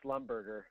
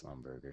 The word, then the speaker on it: Schlumberger: I used to think it was Slumberger. Schlumberger. Slumberger. I mean, that's how it's spelled, so. Yeah. I think it is Schlumberger, seriously.